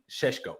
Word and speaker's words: Šeško: Even though it looks like we're keeping Broja, we seem to still be interested in Benjamin Šeško, which is how I'm told he's pronounced.